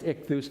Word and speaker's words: ichthus: i'm hungry i love it and and the ichthus this is these are greek words each of these this word exoi it's called it's pronounced ichthus each one of those has a meaning but